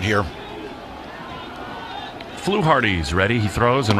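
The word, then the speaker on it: Fluharty: It says flu like a bird flu and then dash hardy like hearty voice. Okay. Flu Hardy doardo for in Boston.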